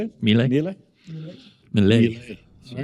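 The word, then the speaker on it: Milei: Is it a Mile, I'm not sure. Mile? How do you say it? Mile? Mile? Malay.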